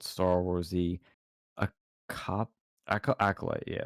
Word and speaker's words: acolyte: era is called Star Wars: The a cop acolyte. Yeah, it's acolyte. That's how it's spelled.